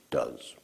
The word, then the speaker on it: does: irregular for as form is does to: yes pronounced does alright so we use the base for mother